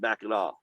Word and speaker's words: Mackinac: Both are pronounced Mackinac, but the British version has a W, which makes sense. Like English, this, W, Mackinac City. Mackinac, The French has a C, which is silent.